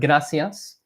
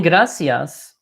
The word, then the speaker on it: gracias: So in gracias, you kind of want to pronounce it similar to a very soft D, like the letter D in English. So if anything, it's actually closer to, it's not a GR.